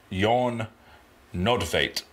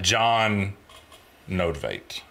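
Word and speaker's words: Jon Nödtveidt: I'm going to try to pronounce his name, but the Swedish pronunciation that I looked up, his name is Jon Nodvate. But it's okay. John Nodvate.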